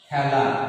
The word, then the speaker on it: খেলা: এই ক্ষেত্রে আমাদের এর উচ্চারণটি হবে বিবৃত, অর্থাৎ এর মতো। তাহলে এর উচ্চারণটা আমরা করব খেলা, খেলা।